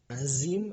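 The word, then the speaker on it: عظيم: Nah, banyak dari kalian yang masih tertukar dengan azim atau azim. Nah, beda pengucapannya itu azim. Azim. Seperti itu.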